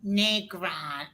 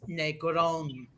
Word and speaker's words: Negron: for years I've heard people pronounce my name Negron it's Negron trust me they americanize my name my first and my